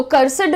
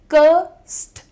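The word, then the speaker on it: cursed: तो कर्सड नहीं होता है वो। और इस तरीके से बहुत सारे लोग एड को बहुत स्ट्रांग प्रोनाउंस करते हैं। प्रोनाउंसिएशन सुनिएगा। कर्सड करस्ट। एस और डी को ब्लेंड कर रहे हो आप यहां पर।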